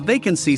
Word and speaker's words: vacancy: Remember to stress the first syllable in the word vacancy.